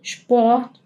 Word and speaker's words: Sport: Las palabras que empiecen con ST o SP, como Sport, van a ser pronunciadas como como si fueran como la SH del inglés. Tienen ese sonidito en vez de S, ¿ok?